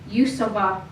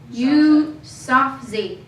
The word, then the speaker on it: Yousafzai: young girl named Mahala Yusova. And I know I did not pronounce that last name right because I've been practicing and this did not sound. What is it? Yusafzai. No, Yusafzai. Yusafzai.